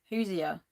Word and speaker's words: Hoosier: Or is it Hoosier? You're saying it right. Hoosier.